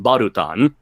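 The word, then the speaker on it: バルタン: katak and balon's name in Japanese it's pronounced barutan so and also I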